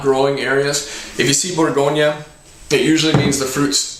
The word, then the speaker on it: Bourgogne: The proper pronunciation, so if you pick up a bottle and someone asks you about it, is Bourgogne. It's just French for Burgundy.